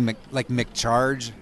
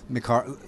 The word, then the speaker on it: McHarg: People fuck mine up and call me McCharge. I get that one a lot. How do you say it? McHarg. Harg. McHarg.